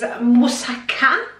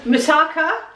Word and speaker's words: moussaka: the day today is moussaka which is the proper way to pronounce it which I can it's quite often pronounces Misaka Misaka so these are the